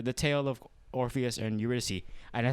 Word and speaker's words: Eurydice: be like the the tale of orpheus and eurydice and i said it right this time i